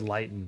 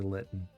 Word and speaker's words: Lytton: That's how they say it in the commercial. I always said Lytton, but it's apparently Lytton.